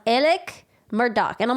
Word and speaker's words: Murdaugh: name just sounds entirely mispronounced I would have pronounced it Alex murdal but his name is pronounced elec Murdock and I'm like how did you get Elle